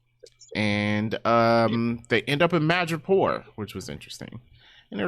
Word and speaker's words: Madripoor: And they end up in Madripoor, which was interesting.